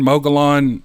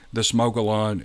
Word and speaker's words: Mogollon: This area of the Mogollon region is just rife with stories of this creature or these creatures.